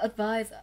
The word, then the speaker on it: advise: Đọc là advise, âm đầu tiên của cô là ơ, âm thứ hai là eyes. Trọng âm không rơi vào ơ và rơi vào nguyên âm đôi, vậy nó rơi vào âm tiết thứ hai.